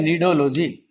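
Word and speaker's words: Cnidology: सी silent है। सी एन आई।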